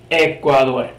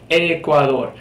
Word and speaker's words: Ecuador: dominicano moving back to Ecuador Ecuador kind of like the e sound that we have in our word for eight the number eight or